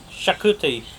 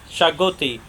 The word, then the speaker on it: Xacuti: the first things first how to pronounce the name it's shakuti or chagoti what good exactly not right so shakuti or chagoti both good so today really spice